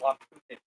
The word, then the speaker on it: Lummi: So we acknowledge that we are on the traditional, ancestral, and unceded lands of the Lummi Nation, pronounced the Lummi of the sea.